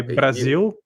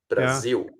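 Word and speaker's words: Brasil: short u like say Brazil Brazil exactly so and many even though you write an L you pronounce it like a u you say Brazil so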